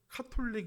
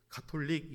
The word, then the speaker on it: 가톨릭: 부탁할 일이 있으시면 은 카플링 이라고 하시지 마시고 가톨릭이 라고 하면은 좋아하실 것입니다 영어가 시 발음 이어서